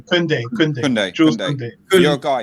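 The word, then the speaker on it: Koundé: With you're comparing Lindelof and Tunde. Is it? Am I pronouncing his name right? Kunde.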